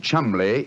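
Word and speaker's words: Cholmondeley: reason to know that the name chumley is in no way pronounced the way it is spelt never thought of that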